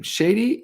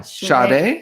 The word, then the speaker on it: Sade: How would you say her name? Shady? No, Sade.